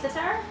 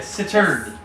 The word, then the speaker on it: cittern: Sitar? It's a cittern.